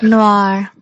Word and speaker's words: Noir: How do you pronounce that? Roy. Noir.